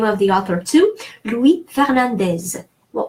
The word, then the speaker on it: Fernandez: Louis Fernandez. Well, that's it's Spanish name, and so I'm going to say it like in Spanish. I'm going to say the final Z.